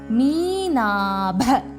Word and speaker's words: மீனாப: பரிவாக பாக்கு மேல நம்பர் இல்ல சோ பா பழமக்கு வரப்ப பரிவாக சலன் சப்பாத்திக்கு வரச்ச சலன் மீனாப மீனாப பாக்கு மேல நாலு இருக்கு ப அழுத்தமா உச்சரிக்கணும் மீனாப லோசனா லோசனா